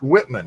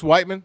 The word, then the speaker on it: Whiteman: yeah, I thought it was Missouri? pronounced Whitman. Yeah, no, it's Whiteman.